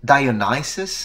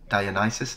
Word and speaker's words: Dionysus: And so I think Dionysus is how you say it in English. That's it. Very good. Dionysus.